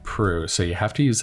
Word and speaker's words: Proulx: I think it's going to be Annie Proulx, and her name is spelled Proulx, I believe. Yeah, it's kind of an unusual spelling, but it does sound like Prue.